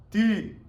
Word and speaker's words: ты: Argentina vos de entonces ti ti como podrán ver anoté ti pero bueno nosotros lo decimos de otra manera Porque no tenemos las vocales que tienen en el ruso pero en realidad es ti y se escribe de